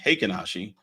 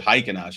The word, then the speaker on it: Heikin-Ashi: Now, it took a long time for me to know that these are actually pronounced Heikin-Ashi. I asked a Japanese friend of mine to, or actually was a member of the room, and they said that's how you pronounce it. So I always said Heikin-Ashi. He said, no, it's Heikin-Ashi. Okay.